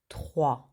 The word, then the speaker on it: trois: a lot of r don't say the s at the end very good so now we're going to put them together the first three numbers so we have a trois very good if